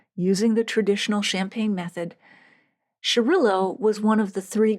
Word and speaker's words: Xarel·lo: So the X is sh pronounced shh in Spain.